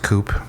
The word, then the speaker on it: Coup: I believe that's pronounced Coop, but yeah.